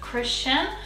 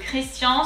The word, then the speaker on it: Christian: going to be christian instead of christian we're going to do christian so let's break it down into two syllables chris similar just the r is kind of guttural comes from the throat crease the s is the little snake that comes towards you kris and then the last syllable is um so a.m in french is on so christian christian now let's go ahead and